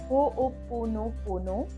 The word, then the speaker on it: Ho'oponopono: But yes, it is a different kind of prayer, which is known as Ho'oponopono. Yes, it's a bit difficult to just pronounce it, but once again I will say it. It's Ho'oponopono.